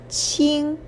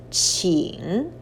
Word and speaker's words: 请: The one on the right indicates the pronunciation, 请. So the whole character is pronounced as 请, please.